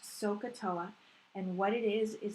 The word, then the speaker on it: SOHCAHTOA: want to talk about this particular title it's pronounced sohcahtoa and what it is is it's your lifeline